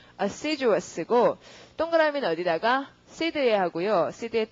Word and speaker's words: assiduous: 그 다음에 예문 읽어보시면 발음은 assiduous고 동그라미는 어디다가 seed에 하고요.